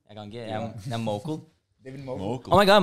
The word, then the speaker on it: Mokel: Det da vel Mokel, ikke sant? Mokel. Ja. Mokel? Ja. David Mokel. Folk sier Monkel, det helt feil.